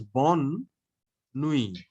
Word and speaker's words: bonne nuit: But night is feminine. So it is bonne nuit.